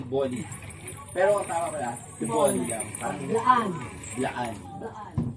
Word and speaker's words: T'boli: you when you see that word you always pronounce it as tea bolly parang may accent on tea tea bolly pero ang tama pala t bolly lang parang Laan Laan Laan same principle Yes